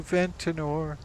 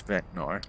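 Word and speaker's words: Ventnor: We're Waterworks trying to get to Ventinor. Actually, it's Ventor. I'm sorry, I mispronounced it.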